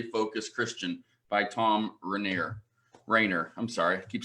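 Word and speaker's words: Rainer: and actually I have a bunch of them Rayner I'm sorry I said his name wrong one of his books who moved my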